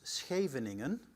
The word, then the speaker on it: Scheveningen: The joke for people coming into the Netherlands is, if you can pronounce Scheveningen in the way I do it, then you speak fluently Dutch.